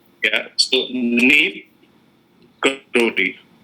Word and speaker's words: Neeb Karoli: his original name, is Neeb. Okay. Neeb Karoli, not Neem Karoli. Okay. Right? Yeah. So Neeb Karoli.